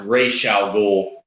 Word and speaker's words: Ra's al Ghul: and most other media, it's pronounced Ra's al Ghul, but I actually prefer it Ra's, as it is in the Dark Knight trilogy.